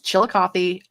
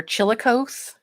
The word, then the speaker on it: Chillicothe: it's great highly recommend yes Chillicothe yes you did spell that right its Chillicothe I have heard most of the time I hear chili cokes I've heard Chillicothe but it is Chillicothe it is named after